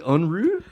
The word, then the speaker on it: Unruhe: It's like unruh. It's a German word. The title is spelled Unruhe. It's a German word that means like unsettled.